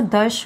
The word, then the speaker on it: दश: नव और दश, इसको दश उच्चारण करते हैं। बहुत बच्चे हिंदी वाला बोलते हैं जो कि सही नहीं होता है।